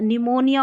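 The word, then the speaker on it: pneumonia: फिर देखिए पी एन जब भी नज़र आए तो न पढ़ना है, क्योंकि पी साइलेंट होता है। निमोनिया और न्यूमेटिक, ये हमने जब पी कब साइलेंट रहता है उसमें हमने देख लिया।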